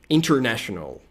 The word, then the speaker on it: international: International. Pode ser international, né? Sem o T. A gente pode omitir o T, na pronúncia americana é muito comum, tá?